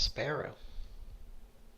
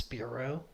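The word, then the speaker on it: Spearow: battling po people as Sparrow or speo it's pronounced speo it's it's like a combination of sparrow and spear so it's spearo marow that would be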